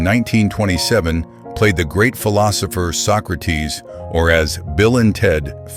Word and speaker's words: Socrates: Tony Steedman, born in 1927, played the great philosopher Socrates, or as Bill and Ted famously mispronounced it, Socrates.